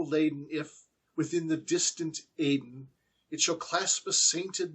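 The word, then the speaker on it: Aidenn: The word Aden, as I understand it, is actually Edgar Allan Poe's invention. He's simply looking for a rhyme with laden, and so he's using the word Eden from the Bible, E-D-E-N, but he's putting a different pronunciation to it to make it rhyme, to make it clear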